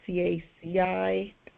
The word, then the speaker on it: CACI: I don't know if it's pronounced CACI, C-A-C-I. Yep. Having worked with them for many, many years, I can tell you that people who are in the company call it CACI.